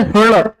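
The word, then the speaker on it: ळ: इसका उच्चारण है हर्ण। क्या उच्चारण है? हर्ण। ह, ड़ और ल, इन तीनों से मिलकर क्या है?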